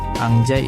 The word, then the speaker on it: anjay: Bacanya jadi, Angjay ingat Nun. Bener, Nun mati ketemu Jin. Bener. Nggak boleh kita pemain. Nun mati ketemu Jim.